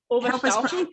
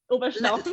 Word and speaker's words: Oberstaufen: Oberstaufen, correct. Yep. Oberstaufen, yep. Help us pronounce it.